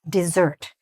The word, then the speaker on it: dessert: "Would you like some dessert?" "Dessert" is the sweet dish that we eat, like a cake or a pie or whatever else, after our meal. All right? That's "dessert". It's spelled like this, with two s's, and it's pronounced "dessert".